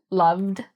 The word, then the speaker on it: loved: So if you see a V and then ed after it, you're going to pronounce it like a d, loved.